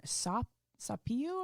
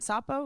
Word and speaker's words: sapo: acquired uh the nickname sapio i think is how you say it sapo which is like little